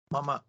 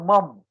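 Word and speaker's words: मम: has a word called how would you say this mama not Mom you understand what I'm saying this uh there is a tendency to pronounce this as Mom but it's not mum if it was a mum then we it would have to be written like this but this is ma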